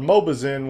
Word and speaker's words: Mobizen: And that's whenever I came upon this particular program here called Mobizen, which is spelled M-O-B-I-Z-E-N.